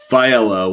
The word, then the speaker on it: Failla: Failla. We pronounce those L's in Italy.